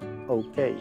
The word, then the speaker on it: OK: Recuerda que se pronuncia OK. La vocal O. O. OK.